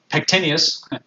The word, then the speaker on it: pectineus: adductor magnus i'm sorry i said it wrong pectineus pectineus adductor longus abductor brevis adductor magnus gracilis